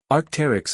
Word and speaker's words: Arc'teryx: Arcterix is pronounced Arcterix.